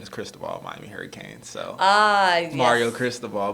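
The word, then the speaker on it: Cristóbal: So 6 years ago, we had Cristobal. That's how they told us to pronounce it, Cristobal. And I got, rightfully so, viewers who can speak Spanish very well and said I pronounced it wrong. And so I think it's Cristobal.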